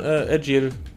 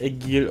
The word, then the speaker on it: Agil: Café, das scheinbar von Agile betrieben wird. Oder Agile, ich glaube, er wird Agile ausgesprochen.